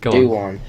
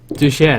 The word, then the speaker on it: Dujuan: W would pronounce it he'd pronounce it Doan Doan no it's it's Duan I think it is it's a very confusing name to try and pronounce um but no I think that's the Mexican way of saying it Chinese way of saying it I think is duen I think that's according